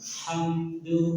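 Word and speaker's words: حمد: Yang salah tadi? Beranak, memantul M-nya. Jadi kalau cuma baju di toko ya Bu yang mantul ya. Dibuatnya semua huruf dipantulin. Seharusnya hamdu gimana?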